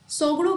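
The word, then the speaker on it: Tshogdu: हम लोग यहाँ पे सोगड़ो के नाम से जानते हैं। भैया टी साइलेंट है ना, पता चला पढ़ लें टी सोगड़ो।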